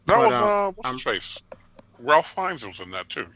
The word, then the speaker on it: Ralph: Ralph Fiennes was in that too. Yeah, Rafe. It's Rafe. It's Ralph. It's Rafe. Anyway, spell it. Ralph. Well, I'm just telling you how the man pronounces his own name.